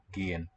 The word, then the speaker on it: gehen: You're saying E, but it's E. So it rhymes with G, as in go. Gehen.